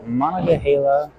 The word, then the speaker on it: Monongahela: They rolled on a pattern called Monongahela, I believe is how you say it, Monongahela River.